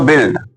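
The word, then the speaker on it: build: इसको बिल्ड पढ़ेंगे यानी कि यू जब हो जाएगा साइलेंट तो BILD का प्रोनाउंसिएशन आना चाहिए। प्रोनाउंसिएशन बोले तो उच्चारण, तो BILD बोले तो बिल्ड। बुल्ड मत पढ़ना अब से।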